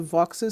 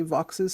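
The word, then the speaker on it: Vaux's: Uh, this is the more common swift, the voxes swift. Some people call it vos swift. It's spelled v a ux apostrophe s. I guess if you like French, you're going to say vo, but most of the birders I know, including me, say vox's swift.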